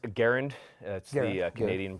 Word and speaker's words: Garand: we going with this so uh it is pronounced Garand that's the Canadian pronunciation we want to put